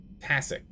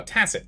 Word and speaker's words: tacit: It's a soft C. Tacit. Oh, tacit.